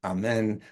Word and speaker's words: Amen: So for this crowd, I'm guessing amen is the right way to say it.